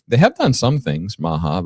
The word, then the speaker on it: MAHA: It rhymes with MAGA. MAHA.